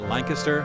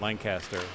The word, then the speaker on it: Lancaster: I had a pronunciation coach give me a hard time about Lancaster and Westchester. It's not Lancaster or Westchester. Right. Lancaster. And if you talk to